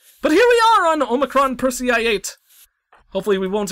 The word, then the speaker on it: Omicron: you spell it because I always thought was like omotron or something like that but it's definitely Omicron because I took the time to look it up but here we are on Omicron Percy i8 hopefully we